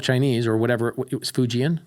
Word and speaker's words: Fujian: Speak Fujian, which is useless here.